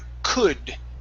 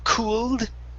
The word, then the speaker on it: could: All right, let's go to the word could instead of cooled. Okay, the L is silent in this word. Okay, it's could.